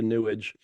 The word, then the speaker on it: New Age: us from drifting into New Age. You know, What? from drifting into New Age, which is how what's his name? Penn the Magician pronounces New Age, pronounces it New Age. Newage, sewage, newage.